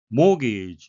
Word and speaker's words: mortgage: 모기 주택 담보 대출이죠. 우리말로도 모기지라고 표현을 하는데요. t는 묵음이라 발음되지 않습니다.